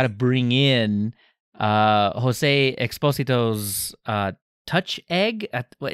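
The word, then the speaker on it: Touchégg: Well, that just means to me it's touch egg. That's what it means. Gotta add the emphasis. Gotta add the emphasis on the eh.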